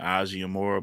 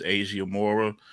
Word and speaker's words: Asia Mora: in the battle uh Molly was pronouncing it Asia Moore but it's Asia Mora and uh she's from